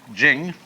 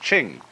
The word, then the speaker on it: Ching: it's pronounced duh and jing. There is no apostrophe after the ch. So if there were it would be pronounced ching but it's jing like a J.